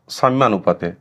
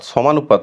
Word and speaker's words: সাম্যানুপাত: তিন নম্বর প্রকারভেদে অর্থাৎ সাম্যানুপাতে আবারো বলছি এটার উচ্চারণটা কিন্তু সাম্যানুপাত সমানুপাত নয় সমানুপাত এবং সাম্যানুপাত সম্পূর্ণ আলাদা জিনিস সাম্যানুপাত কাকে বলছে যে